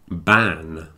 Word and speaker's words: ban: I don't know and there's also van and ban van v an a a type of transport yeah and B an is a Prohibition like a smoking ban when you're not allowed to smoke in the bars so the difference between the V and the B is important and I recommend that everyone practice that one another pronunciation problem that